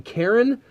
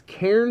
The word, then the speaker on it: Cairn: I feel like sometimes I feel myself saying Karen, which isn't right. It's Cairn, as far as I understand pronunciation.